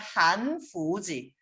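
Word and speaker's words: 汉服: 근데 만약에 한복을 중국어로 발음하면 한후지. 그럼 이 한후랑 비슷하죠. 그죠?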